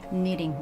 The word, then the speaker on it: knitting: Yeah, K is silent, K is movement, right? That's so right. you have to say knitting, right?